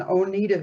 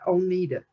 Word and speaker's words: Oneida: I was born in Oneida, Kentucky, and I grew up around the Oneida area.